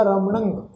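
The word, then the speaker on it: ਰਮਣੰ: रारा मम्मा नाणे अखर उत्ते टिप्पी की मात्रा का नासक उच्चारण होएगा रमणंग।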